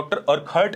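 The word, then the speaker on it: Urquhart: उर्कहार्ट से हुआ। देखिए, अब उनका उच्चारण कुछ भी हो सकता है।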